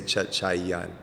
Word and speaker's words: Chachayen: You pronounce it with like if it was a UN at the end. So you would say Chachayan. Chachayen.